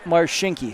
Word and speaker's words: Marchinke: Spelled Marchinke, pronounced Marshinki.